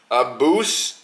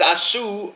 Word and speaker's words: Asu: Asu. Not Abus. Not Caboose. It's Asu Alabayev.